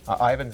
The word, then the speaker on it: Ivon: right is it Ivan is it Ivan it's Ivan it's Ian yeah it's Ivan noted for future reference